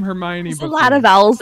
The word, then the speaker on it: Hermione: Potter uh I I thought hermion name was pronounced hermion oh I had never encountered the name Hermione before a lot of vowels in there there's